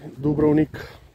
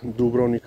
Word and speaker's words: Dubrovnik: life in the dubrown dubrovnik yeah in america you pronounced dubronic a little bit differently you know dubrovnik pretty